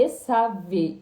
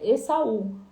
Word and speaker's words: Esav: É Esav, não é Esaú. Por quê? Porque com a letra Shin, tá? Que se escreve o nome, Esaf. Só que aqui no Brasil, como a letra Z e o S tem o mesmo som, então eles falam Esaú.